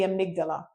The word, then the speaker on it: amygdala: So it's the amygdala, or I used to say amygdala. So I think it's the amygdala is a proper way to pronounce it.